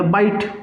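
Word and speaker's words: bite: और जैसे हमने बिट के अंदर ई को ऐड किया तो ये क्या बन गया? ये बन गया बाइट.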